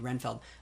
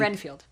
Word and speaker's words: Renfield: the ship and you're asking why we need Renfeld? I think Renfield.